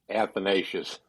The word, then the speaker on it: Athanasius: And by the way, that's how you say it, Harv. Athanasius.